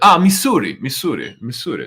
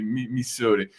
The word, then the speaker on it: Missouri: Missouri, del Missouri.